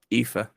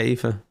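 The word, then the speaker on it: Aoife: you pronounce the name it's like a-o-i-f-e IFA IFA okay yeah Eva Eva little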